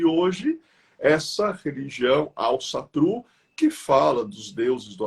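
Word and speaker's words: Ásatrú: Asatru, que na realidade a pronúncia correta é Alsatru, que eles articulam muito, né, a boca quando eles falam.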